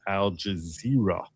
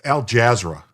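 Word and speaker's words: Al Jazeera: on IRGC according to Al Jazer. It's Al Jazzra. It's one way of pronouncing it.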